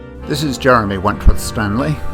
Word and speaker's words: Wentworth-Stanley: This is Jeremy Wentworth-Stanley. I'm the fellow who has a hyphen in my name. The hyphen is silent, but I am anything but that.